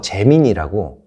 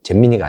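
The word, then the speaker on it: Gemini: 구글이 그래서 재민이라고, 잼민이가 아니고. 발음에 좀 주의하시고. 재민이라고.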